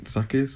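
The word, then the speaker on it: Sakhir: in the in sakia sakis is how you say it yeah yeah yeah like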